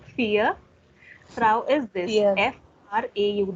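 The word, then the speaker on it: vier: Not Frau, fear.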